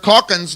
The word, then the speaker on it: Calkins: Calkins, number 21. That's how you say his name, right, Big Red?